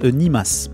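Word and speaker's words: 煮ます: Et ça se prononce nimas.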